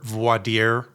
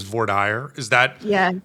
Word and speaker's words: voir dire: So is that how you focus your voir dire, or as we mispronounce it in Texas, voir dire?